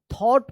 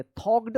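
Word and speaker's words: thought: पे जी एच जो है ना यहां पे साइलेंट है थॉट पढ़ेंगे थॉक्ड मत पढ़िएगा थॉट पढ़ेंगे फॉर फॉर अ फ्यू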